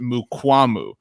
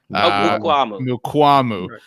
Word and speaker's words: Mukwamu: His last name, he corrected us, is pronounced Mukwamu. Mukwamu.